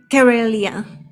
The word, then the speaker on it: Carelia: Carelia. Carelia? Yes, like Karen, but Carelia.